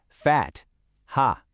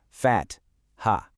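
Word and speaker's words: فتحة: Fat, ha. Notice that very clear T sound, followed by a little breath of air for the H. Let's say it together. Fat, ha.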